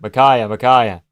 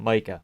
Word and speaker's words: Micaiah: Micaiah. Not Micah. Micaiah.